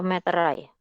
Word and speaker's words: meterai: Atau meterai? Yang sering salah nih. Yang baku yang mana? Yang ini? Ya. Kenapa kok meterai?